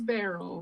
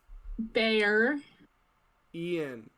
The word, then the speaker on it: Barian: So bear, like a roar, like a bear, roar. Bear. Ian. Oh.